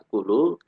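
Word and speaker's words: آكُلُ: Karena pertemuan dua hamzah, yang pertama berharokat, keduanya sukun, itu sama dengan hamzahnya menjadi panjang.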